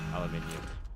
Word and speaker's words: aluminium: You are right in how you say it, by the way. Aluminum. Oh, really? Mhm. But I just can't get aluminium out of me. There's not ne at the end. And I say aluminium.